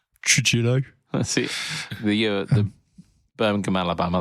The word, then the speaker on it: Trujillo: I was just thinking about how you pronounce Torillo. And it's like, Rio. Yeah. Torillo. Surely not. I don't know. Answers I'm in the not comments Spanish. below. Well, he says he's American. It would be Trujillo.